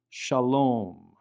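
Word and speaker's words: שלום: But as you'll notice, in the word Shalom, the Vav represents an O vowel. And so sometimes the Vav will not function as a consonant at all, but it will represent an O vowel. Shalom, shalom.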